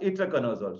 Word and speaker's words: itraconazole: So ittar, you say ittar, itraconazole.